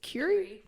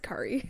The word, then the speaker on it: Curie: code what would Marie is it Curie Curie do oh I said curry in my mind Curie do if NASA